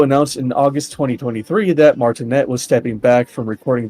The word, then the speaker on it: Martinet: Um uh it's pronounc it's pronounced martin but that's okay.